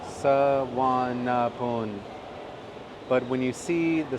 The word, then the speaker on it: Suvarnabhumi: So the pronunciation is Suvarnabhumi, Suvarnabhumi.